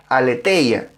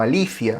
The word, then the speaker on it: aletheia: Verdad allí es el griego aletheia, o tal vez se debería pronunciar más como alicia o algo así. Bueno, aletheia para los amigos.